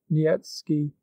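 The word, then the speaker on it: Niëtzky: a certain polish nobleman Nikki pronounced nietzsky had obtained a special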